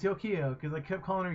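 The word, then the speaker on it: Yukio: you say it yeah yeah I remember it's yokio because I kept calling her yogioh Yu-Gi-Oh or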